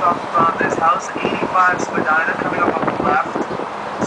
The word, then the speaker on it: Spadina: Spadina comes from the Ojibwe word Ishpadina, which means gentle rise to the land in Ojibwe.